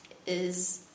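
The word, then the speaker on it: hay: here's a word that is not really that tricky to learn I not like the word hey it's not pronounced the H remember I it means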